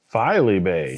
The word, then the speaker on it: Filey Bay: Bay Flagship filey Bay filey Bay Finley sorry we were putting an in in there we are FY filey I was mispronouncing it we were naming a